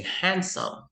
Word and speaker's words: handsome: sandwich, handsome, Walang D. You say handsome.